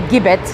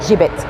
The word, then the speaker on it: gibbet: of a metal cage not to be pronounced a gibbet some people do but it's definitely a gibit let me show you